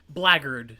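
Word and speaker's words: blackguard: what are you insinuating you vile black God blaggard blaggard blaggard yeah really yes I know it's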